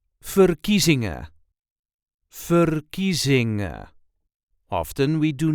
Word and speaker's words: verkiezingen: There is a light emphasis on the second syllable fingering or furizing.